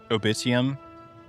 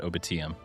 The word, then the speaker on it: Obitium: Obitium. And Lyceum. yeah, yeah. perfect. Cuz I'm going to have to say it a lot. Yeah, I think it's Obitium, not Obitiam. Anyways, step up.